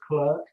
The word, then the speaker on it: clerk: tim clerk of works clark of works as you pronounce it but it's actually if you read it as clerk it's quite an ancient